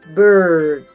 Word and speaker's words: bird: The first word is bird. Bird refers to an animal that flies and has wings. Bird rhymes with word or world.